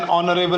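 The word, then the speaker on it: honourable: Before words beginning with silent H. कुछ words जैसे जिसमें साइलेंट एच होता है, जैसे एन आर, एन ऑनरेबल मैन, एन एयर, an honest man. तो ऑनेस्ट, एयर, ऑनरेबल, आर, ये वर्ड्स ऐसे जिनके सामने एच तो आता है लेकिन ये साउंड साइलेंट होता है.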